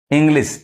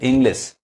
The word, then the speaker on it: English: ई आ रहा है शी इंग्लिश ई पढ़ा रहा है ई साउंड इंग्लिश अब इसको ए नहीं पढ़ेंगे इंग्लिश नहीं कहेंगे इंग्लिश ईमेल ई पढ़ा रहा